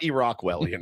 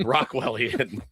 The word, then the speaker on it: Rockwellian: Anyway, it was Rockwellian, not Iraqwellian. Rockwellian.